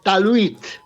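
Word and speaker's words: talwit: Bueno, bueno, pues la palabra paz es talit. Tal es una palabra muy fácil, muy fácil. Sí, sí. T a l w i t. Talit. Talit.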